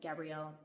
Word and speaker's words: Gabrielle: So, that's one thing that I thought that Gabrielle, sorry, I think her name is pronounced Gabriel, but I don't like that. So, I keep calling her Gabrielle.